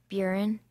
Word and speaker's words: burin: Burin. Can I have the language of origin? Perhaps originally Celtic and perhaps passed through Catalan before becoming French. Buren, and am I pronouncing it correctly? Buren?